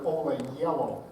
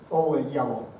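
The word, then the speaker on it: Ola Gjeilo: in Manhattan, female composer Ola Yellow. That's how you say her name, if you were at all curious looking at all of those vowels and consonants that don't really make hard sounds. Ola Yellow.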